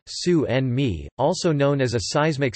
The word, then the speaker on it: tsunami: gin bolat harbour wave English pronunciation su and me also known as a